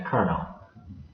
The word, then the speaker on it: kernel: the operating system is called the kernel, which to me sounds a bit like Kernel from the army, but it's not. It's spelled slightly differently, but it might help